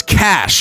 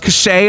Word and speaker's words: cache: Let's go ahead break out our shovel, dig up this treasure cache, and or I guess cash, right? cuz it's not actually pronounced cache.